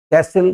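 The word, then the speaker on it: castle: है T silent है कैसिल किले को कहते हैं अगेन टी साइलेंट है असल पतंगड़ बनाना किसी बात का टी साइलेंट है विसल सिटी सिटी बजाना टी साइलेंट है।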